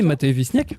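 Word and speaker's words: Matei Vișniec: La pièce de théâtre signée par l'auteur franco-roumain Matei Visniec, si je prononce bien. Oui, Matei Visniec.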